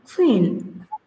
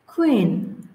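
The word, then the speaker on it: queen: তাহলে সঠিক উচ্চারণ হবে কুইন কুইন কুইন তো কিউ এর উচ্চারণটা এখানে খ এর মত হয়েছে দেন যদি আমরা টি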